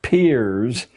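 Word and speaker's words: Peirce: has produced he was It's pronounced peers but it's spelled as if it were Pierce charles S peers a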